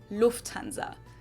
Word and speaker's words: Lufthansa: loved this means applying usually say Lufthansa but in German we say Lufthansa so the emphasis on the first syllable Lufthansa versus Lufthansa and that was the last